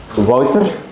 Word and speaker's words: Wouter: I know difficult to pronounce maybe if you think of a bottle of water. Yes. So yeah that's pronunciation is already very close to uh to what it should be.